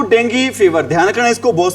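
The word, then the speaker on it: dengue: ध्यान रखना, इसको बहुत सारे बच्चे हैं क्या बोलते हैं भी, डेंगू बोलते हैं। एक्चुअल में डेंगू नहीं होता भी, क्या होता है इसको बोलते हैं, इसकी सही प्रोनाउंसिएशन होती है भी डेंगी।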